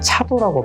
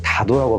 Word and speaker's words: 다도: 우리가 차례 지내다 할 때는 차라고 발음하고 흔하게는 그냥 차 이렇게 발음하는데 간혹 가다 보면 우리 이걸 차도라고 발음하지 않고 다도라고 발음할 때가 있잖아요.